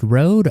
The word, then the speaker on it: Roed: And our 7th round pick this year was Nolan, I believe this is pronounced Roed, R-O-E-D, a forward out of the USHL.